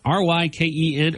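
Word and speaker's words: Rykyn: R-Y-K-E-N. Or actually, it's R-Y-K-Y-N, but it's pronounced like Ryken, which I thought was cool.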